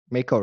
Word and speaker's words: MAEKO: MAEKO, right? That's the way you Yes, pronounce it.